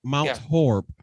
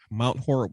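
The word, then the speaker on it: Mount Horeb: oh oh m m MB MB okay M mount horb mount horb Wisconsin there we go see Nathan Crystal help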